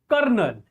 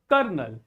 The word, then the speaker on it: colonel: So here you find some interesting fact about this word here kernel. Here kernel you will find that the L the letter L in this word the first letter L this L is silent kernel kernel it means